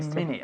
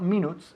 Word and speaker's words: minute: 3 minutes. Okay, not minutes, minutes. Minute. Minute. Minute. Okay, se escribe minute, but we say minute. Okay, es como si estuviese escrito minute. M-I-N-I-T. Minute. No se dice minute.